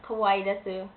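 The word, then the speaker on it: かわいいです: Yes, I said kawaii desu. That is a proper way to say it. It's kawaii desu.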